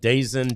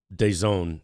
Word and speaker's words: DAZN: There is a deal with a British company called DAZN, D-A-Z, DAZN. Okay, D-A-Z-N is how it's spelled out, and it looks like they're ready to back out.